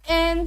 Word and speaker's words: Anne: अगर हम इसे प्रोनाउंस करें तो ये हम इसे ऐसे भी प्रोनाउंस कर सकते हैं NE, लेकिन नहीं, यहाँ पर जो हमारे पास E है ये हमारे पास साइलेंट लेटर है। हम इस E का जो साउंड है वो प्रोनाउंस नहीं करेंगे, हम इसे पढ़ेंगे एन सेलिवन।